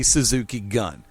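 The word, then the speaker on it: Suzuki-gun: version of it and the traditional um the traditional contemporary Japanese would be Suzuki gun there are there are are fragment dialects in Japan that would actually pronounce gu n as goon but not goon it's goon big difference there he's pronouncing it as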